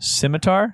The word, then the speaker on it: scimitar: How is that pronounced? Scimitar?